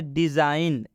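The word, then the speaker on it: design: दीजिए एग्जांपल की तरफ जैसे डिजाइन डिजाइन में जी के बाद एन आया है डिजाइन में जी के बाद इसलिए इस जी का उच्चारण हम नहीं करेंगे डिजाइन डिजाइन का मतलब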